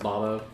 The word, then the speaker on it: Bobo: just have to b-o-b-o it's spelled bobo but it's pronounced bombo i love it but